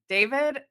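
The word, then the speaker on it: D4vd: David, it's spelled D4 VD.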